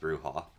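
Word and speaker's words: Brujah: It's pronounced bruha.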